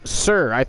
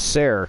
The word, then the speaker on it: Sarah: they literally named her Sir. I don't think it is Sir. It is Sarah. Perfect Flair. Pretty sure it's pronounced Sarah, not Sir, but...